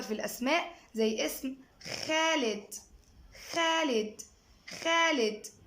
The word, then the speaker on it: خالد: خالد. خالد. طبعا خالد اولها حرف الخاء، فما عنديش حرف في الانجليش الساوند بتاعه خاء، فبجيب ايه؟ دمجنا الحرفين دول مع بعض الكي والاتش قلنا خالد.